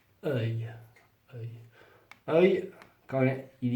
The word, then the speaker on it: œil: Ça, c'est très difficile à prononcer. Œil.